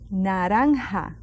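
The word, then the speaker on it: naranja: a long one an see that J I just breathe through it say it with me and what does that word comes from that fruit narha that's orange very good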